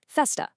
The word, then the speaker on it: festa: In São Paulo, the word for party, festa, is pronounced exactly like that, festa. No whisper at all.